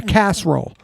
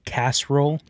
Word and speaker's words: casserole: was warm like a casserole so it was tuna salad did you say Cass roll mhm Cass how do you say it casserole oh you put Theo there's definitely three syllables in casserole not where I grew